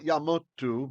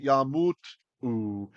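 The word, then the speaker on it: יָמֻתוּ: We will pronounce it as an u because it should have been a shurik, right? We would have expected the vav. So not yamutu, but yamutu. Yamutu.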